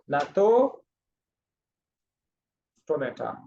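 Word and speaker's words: Gnathostomata: और दूसरा है नातो स्टोमेटा, जी साइलेंट है, ना तो स्टोमेटा।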